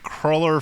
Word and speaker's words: cruller: Like nothing could be more crueler than the way you were taught to pronounce cruller. It's a Cruller. Your parents played a cruel trick on you and they taught you to pronounce that word wrong.